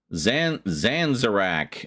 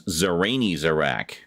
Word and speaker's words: Zanzarak: She says I was pronouncing it in a very dyslexic way. Zanzarak. Well, that's not as bad as some of the ones I've heard. The most common one I hear is Zarani Zarak. Because he's so Zarani, I guess. I don't know. And there was one guy pronounced it. Some people pronounce it Zaranzarak. Yeah, very few people get it right the first time.